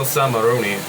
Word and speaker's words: Samaroni: I'm gonna go Samaroni. And how it's spelled is basically samurai, but the AI in spelling is replaced with Oni.